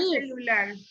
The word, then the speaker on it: celular: No lleva la palabra celular. Celular. En lar, muy bien, tengo C. Yo dije Lar, al final lleva el acento.